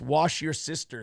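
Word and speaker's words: Worcestershire: trucker 18wheeler with 199 says it's wash your sister sauce oh see I didn't know that's how you pronounce it thank you trucker you're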